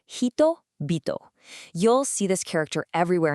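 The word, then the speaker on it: 人: According to our data, the onomi readings are nin jin and the kunomi readings are hito.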